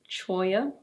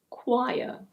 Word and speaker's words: choir: No, it's not "choy-a". In British English this is: choir.